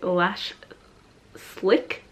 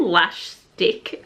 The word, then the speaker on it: Lash Slick: like waiting for is the glossy a lash slick which I thought what's called lash stick and I thought like a few people just said it wrong in their own videos I'm like that's so embarrassing but I was just literally calling this the wrong thing for like a month but